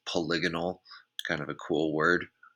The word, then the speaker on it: polygonal: pronunciation of that because I've definitely said poly gone old before but the correct way is polygonal kind of a cool